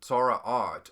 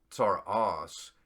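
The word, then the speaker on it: צרעת: Well, some of these seem to be maybe just, and it is interesting to me, Tzara'at, or again in the Ashkenazi pronunciation, Tzara'as, how similar that word is to psoriasis.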